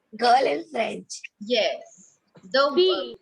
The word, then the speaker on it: fille: Yes, the Fee. pronunciation. The pronunciation is fee.